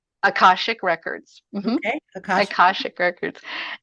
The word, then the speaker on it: Akashic: Akashic Records.